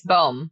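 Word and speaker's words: Bohme: b b o hme how how do you say that oh I think you said that perfectly it's boom boom Oh okay perfect I'm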